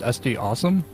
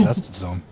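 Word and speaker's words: SDAWSUM: Also, is it pronounced SD Awesome? Yes, it is. Oh, I always thought it was SD Zone. I've been saying it wrong.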